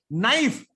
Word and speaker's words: knife: Knife. Spelling of knife. Tell me knife. K-N-I-F-E. Why K here? Do you say knife? Why this K? It's silent.